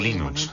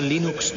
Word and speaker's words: Linux: Sin Internet, el desarrollo de Linux habría sido como querer jugar al ajedrez por correo.